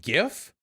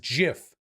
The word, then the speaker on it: GIF: you it's pronounced gif okay gif who the says jiff okay that's stupid jiff what